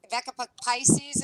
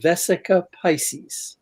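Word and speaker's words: Vesica Piscis: It's the two circles that cross the Vecca Pisces. Am I saying it wrong? I'm chopping it up. I'm all horrible with these words, Yes. guys. Say it correctly, please. It is called the Vesica Pisces.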